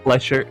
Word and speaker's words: lecher: Is it Lech or Lech? Well, like lecherous. Lecher?